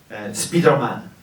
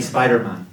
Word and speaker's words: Spider-Man: Ça m'a pris beaucoup de temps pour comprendre de quoi parce que en fait on dit Spider-Man. Spider-Man c'est comme ça qu'on prononce mais les français disent Spider-Man.